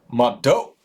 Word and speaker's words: mvto: that kind of sound mvto pronounced that means thank you motto ma ma doe like Homer Simpson mustache class oh yeah yeah